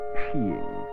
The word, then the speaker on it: skiing: Dedicated to enjoying the winter sport of skiing, pronounced sheing.